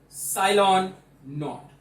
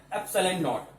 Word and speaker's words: epsilon naught: Now focus on the pronunciation of this word. This one is epsilon naught. Not for zero, epsilon. It is a Greek letter, epsilon naught.